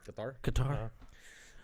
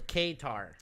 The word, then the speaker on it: Qatar: Qatar. They Qatar. You got to pronounce it correctly. They don't Qatar. Also, I'm sorry if I mispronounced it. I thought it was Qatar.